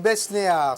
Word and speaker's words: Besnehard: Il s'appelle Dominique Besnéard. Si l'on devait prononcer son nom à l'anglaise, on dirait Besnéard, H-A-R-D.